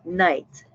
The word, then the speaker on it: knight: Le mot ici, c'est night, comme nuit, mais avec un K en avant.